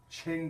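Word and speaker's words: Qing: Mandate of Heaven Mongols Ching dynasty remember that Chang is spelled q I ng Ching dynasty was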